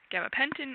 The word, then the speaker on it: gabapentin: The next question is, Which gabapentinoids do you prefer, gabapentin or pregabalin? Excuse my pronunciation if any of those are incorrect.